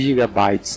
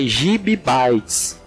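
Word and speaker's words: gibibytes: Não existe gigabytes, não se fala gigabytes. O jeito certo é gibbytes, são 16 gibbytes.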